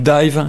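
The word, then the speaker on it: DIIV: Et j'ai choisi aujourd'hui de vous parler du groupe Dive, ça s'écrit D-I-I-V.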